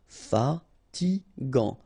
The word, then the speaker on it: fatigant: In that case, you've got A N, so it's gant. Final T not pronounced. Fatigant.